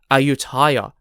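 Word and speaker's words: Ayutthaya: from Thailand because ayuta also sounds similar to ayutaya which is spelled a-y-u-t-t-h-a-y-a ayutaya was an ancient Thai Kingdom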